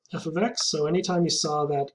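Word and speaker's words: f(x): to cover today so some exercises if f f of x that's how we pronounce it if f of x if the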